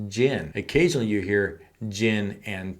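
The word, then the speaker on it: djinn: you read the book it's spelled like Genie d-j-i-n-n if you're listening to the audiobook all you hear is gin occasionally you hear gin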